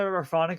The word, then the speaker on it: Rephonic: little bit from there but I find that Raonic is a great tool to use and for